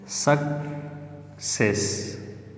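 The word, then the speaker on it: success: तो अभी आइए इसकी आवाज़ देखते हैं, सक्सेस, एक्सेस। KS CC की जगह लिखते हैं, ओरिजिनल स्पेलिंग होंगे वो ये CC का, लेकिन प्रोनाउंसिएशन होंगे KS का, सक्सेस, एक्सेस, एक्सेस।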